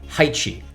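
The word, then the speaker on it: Haechi: swaps smart contract is audited by heichi i think that's how you say it the company is spelled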